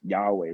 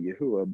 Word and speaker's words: Yahweh: You know, my Bible that I read actually puts Yahweh, Yah, you know, Weh. Like they actually spell it in English, Yahweh. But again, that's not the only transliteration of the name. You know, I personally believe it would be probably Yahuwah, but you know, so again,